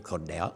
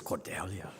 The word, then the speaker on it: Cordelia: that right cordelia cordelia they keep on called saying cornell cordelia but to me it's cordelia thank you master you're actually the first person who pronounced my name right um the one thing